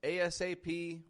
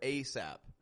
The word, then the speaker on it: ASAP: This can be pronounced ASAP or ASAP. I'm telling you, native English speakers use it both ways.